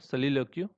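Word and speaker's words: soliloquy: तो देखो, खुद से बात करने की जो कला होती है उसको बोलते हैं सोलिलोक्यू। ठीक है, सोलिलोक्यू बोलते हैं उसको। इसका प्रोनाउंसिएशन एक्चुअली सलीलोक्यू होता है, सलीलोक्यू।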